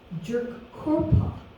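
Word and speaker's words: Tjukurrpa: and given the material and immaterial the term jerk corpa is a word that stands for the dream time is spelled t-j-u-k-u-r-r-p-a and tissue cake um the period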